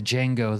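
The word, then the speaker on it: Django: Kidnapping the Jango. The D is silent.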